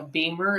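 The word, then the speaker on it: BEMER: had used a machine called a beamer it's spelled b m r and in real Simplicity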